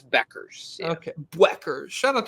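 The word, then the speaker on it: Bueckers: how do you say is it Beckers it's Beckers yeah okay Beckers shout out to Paige beers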